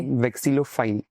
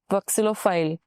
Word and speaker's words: vexillophile: सो हाउ डू you pronounce it properly? Vexillophile. Vexillophile.